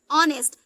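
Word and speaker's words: honest: हो गया ओनर ठीक ऑनेस्ट अब देखिए यहां कभी एस साइलेंट है और ओ से ओ एन से एन ए से ए की मंत्र एस आर टी से ता हो गया ऑनेस्ट ये ऐसे ही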